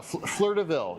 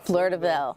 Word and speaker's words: Fleur de Ville: Yeah, my French is not that great, but yeah, Fleur de Ville, yeah. Fleur de Ville.